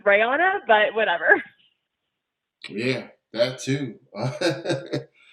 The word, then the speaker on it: Rayana: for long enough for you to know it's reyana but whatever yeah that too it was great